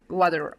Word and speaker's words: water: a flap T sound this D is going to sound like a t okay I'm American I say this word I don't say water what do I say what do Americans say water exactly that t sounds kind of like a D in some languages maybe in Russian it sounds like an r in a way right how you might